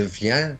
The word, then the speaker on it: viens: No stress on the N. You can drop that last N. It's almost je viens.